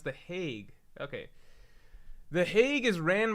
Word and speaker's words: The Hague: the hog let me look at how to pronounce that this is hilarious I was a